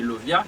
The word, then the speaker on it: Lauviah: Génie que n'a pas là, chérubin qui n'a pas là, c'est Lovia qui s'écrit Lauvia-H, son chérubin.